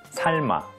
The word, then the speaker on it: 삶: 옮기다 옮기다 젊다 젊다 겹받침 리을 미음은 미음으로 소리 나지만 리을 미음 받침 다음에 이응이 오게 되면 미음이 아니라 리을로 소리 난다고 배웠어요 다시 한번 복습해 볼까요 젊은이 젊은이 살마 살마 학습자분들의 삶에서 가장